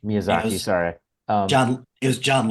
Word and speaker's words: Miyazaki: who often helped uh mazuki M I said it right the first time Miyazaki Miyazaki sorry John it was